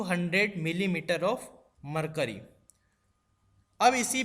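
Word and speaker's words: mmHg: ये दोस्तों इसको कैसे प्रोनाउंस करते हैं आप ध्यान से सुने, इसको एमएमएचजी को प्रोनाउंस करते हैं, बोलते हैं मिलीमीटर ऑफ मरकरी।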